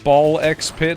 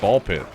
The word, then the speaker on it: Ball x Pit: You gotta pronounce the X, man. Dude, I've been saying ball X pit, and then people are like, it's just ball pit. And I'm like, it's the Hunter X Hunter situation, man.